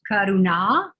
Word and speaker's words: Karuna: thank you so much your name would be pronounced karuna with the tip of the tongue up in the center of the mouth for the nasal arna and then uh the long eye at the end so that that's where